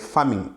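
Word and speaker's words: pharming: number three we have farming which is not the normal farming that we do but uh a type of farming that is found in cyber security which is spelled PHA not F A so in this case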